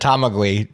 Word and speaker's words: Tamagui: Just like I said, Tamagui. GUI. Okay. Just like you said, Tamagui.